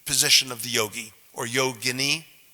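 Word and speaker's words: yoginī: no it's yogini okay if it rhymes with fettuccine linguine is probably an Italian preparation okay but it is yo Guinea yo Guinea okay so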